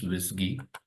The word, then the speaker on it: WSGI: of flask now what is a wisy toolkit wisy toolkit stands for wsgi PR pronounce wisy okay and actually it's the name work and